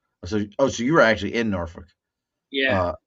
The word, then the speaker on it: Norfolk: So you were actually in Norfolk. Yeah, You don't even say it right. It's Norfolk.